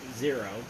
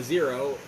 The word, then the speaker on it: Xero: software you recommend this Zero, spelled with an X, so I call it XO, or like Xerox. It's like Xerox.